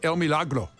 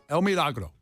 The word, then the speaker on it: El Milagro: People were I said El Milagro.